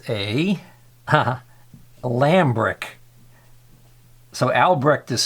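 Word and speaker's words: Lambrich: It's a Lambrick. So Albrecht is spelled A-L-B-R-E-C-H-T, and this is spelled L-A-M-B-R-I-C-H, Lambrick.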